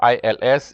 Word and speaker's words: ils: And then last but not least, you have ILS. You pronounce ILS, il also. E-L-L-E-S also is pronounced L.